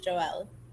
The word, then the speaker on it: Joelle: it's jewell yes it's joelle it looks like joe ello though it's pronounced like the boy's name well chinese says friendship